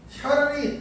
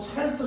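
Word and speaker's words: Charles: 샤를이 자크 샤를이래. 자크 샤를 읽어보면 찰스 같은데 싶겠지만 찰스가 넘어보면 이제 샤를이 되는 거지. 프랑스어로 넘어가면 발음이.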